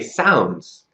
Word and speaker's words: sounds: Why does S make a Z sound? For example, why do we say sounds?